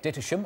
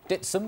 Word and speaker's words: Dittisham: to the Village of ditam or dsum as it's pronounced by locals to find out why